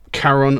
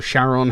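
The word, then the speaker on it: Charon: Uh now the song being called Boatman immediately it sort of springs to mind um Karon or Sharon, however you want to pronounce it, the um the boatman of the underworld.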